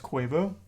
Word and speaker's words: Quavo: got shot minding his own business basically it's pronounced quavo have I been saying it wrong all these